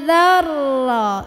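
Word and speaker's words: ذرة: Mithqala dzarra. Dzal gigit, ujung lidah ketemu ujung gigi, tekan ke ro. Dzarra. Jadi jangan za-nya dipanjangin. Za-nya pendek, tekan ke ro.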